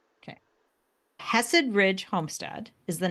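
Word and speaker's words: Hesed: rid Homestead is our Channel okay can you spell that Hess it's h h e s e d okay hessed Ridge Homestead is the name of the YouTube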